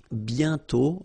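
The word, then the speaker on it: bientôt: pronounce it and then the final T is not pronounced BTO okay and then you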